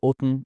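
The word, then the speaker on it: often: كده ا لاني شرحتها وانا بنطق كلمه اوتن اللي هي كلمه لان اصلا دي بتتقال كده اه والله برده هقول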